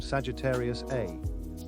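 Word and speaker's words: Sagittarius A*: 40 years later, scientists identified the intense radio, along with X-ray and infrared, emission from Sagittarius A, pronounced star, a region believed to harbor a 40 million solar mass black hole at the center of our galaxy.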